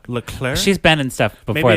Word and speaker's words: Leclerc: It stars Katie L. Clerk and Ryan Cooper. Yeah, I think you I I'm pretty sure you pronounce L clerk. Llair.